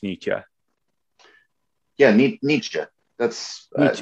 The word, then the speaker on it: Nietzsche: uh if you so if you're thinking in martial arts terms like knee and then cha like a sound you make when you're the karate chop yeah um no i mean i think that's the easiest way to just like phonetically think think about it um because i think